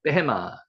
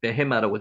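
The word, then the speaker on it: בהמה: 짐승, 베헤마. 요게 경강점이 찍혔기 때문에 쌍비읍으로 발음이 납니다. 여기는 베헤마라고 적었지만 베헤마, 읽기는 베헤마라고 했습니다.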